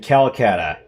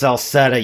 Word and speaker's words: Celceta: And we'd like to welcome you to yet another episode of East Memoir Revelations in Kolkata. It's pronounced Saletta.